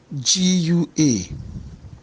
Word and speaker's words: gua: G-U-A. G-U-A. In this case, we have also the dot under the U, but the stress mark is rising from left to right.